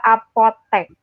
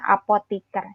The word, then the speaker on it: apotek: Bukan atletik, demikian juga apotek. Karena dari apoteker, ada apoteker, bukan apotiker. Jadi yang benar itu yang penulisan dan pelafalannya diakhiri dengan vokal E, bukan I. Antre, atlet, dan apotek.